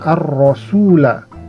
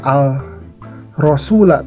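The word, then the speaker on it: الرَّسُولَ: sini ada alif lam ini tidak dibaca jadi layaknya seperti matahari yang menutup cahaya bintang jadi bintangnya tidak terlihat tertutup oleh roknya Jadi dibacanya arrosula tidak dibaca Al rosula tapi ar rosula Nah ada tanda tasydid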